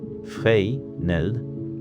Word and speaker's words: Fresnel: In the year 1822, a French engineer named Augustin Jean Fresnel, and his name is pronounced, roughly, Fresnel, in the French fashion, designed a new kind of lens.